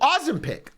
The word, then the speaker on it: Ozempic: And so here in beautiful Denmark, which I've always said, Copenhagen, Denmark, they finally come out with a drug called Ozempic.